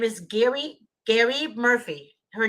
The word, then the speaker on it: Geri: On Tuesday, a former social worker, her name is Gary Murphy. Her name is spelled Geri Murphy, Murphy, who admitted she lied